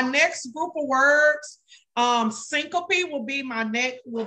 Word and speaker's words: syncope: but just recognize it it's pronounced syncope s-y-n-c-o-p-e syncope so basically if someone